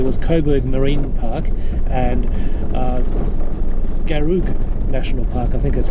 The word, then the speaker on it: Garig: So Garig National Park is about 4,500 square kilometres.